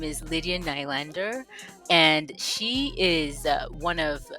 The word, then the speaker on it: Nylander: It's Nylander. It's Nylander.